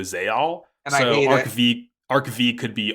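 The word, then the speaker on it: Zexal: perhaps Ark five look I learned a while back that Yu-Gi-Oh zeil was actually pronounced Yu-Gi-Oh zal so arv arcv could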